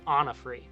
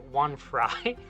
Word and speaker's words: Onofre: And the proper pronunciation of it is Onofre. Onofre Road. But our previous narrator pronounced it One Fry.